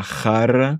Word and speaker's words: jarra: Una jarra. Ici, j'accentue un peu plus le R parce que justement, c'est un double R.